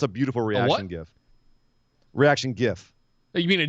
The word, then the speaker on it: GIF: Reaction GIF. You mean a GIF? No, I mean a GIF, like graphics interface format. Graphics, hard G.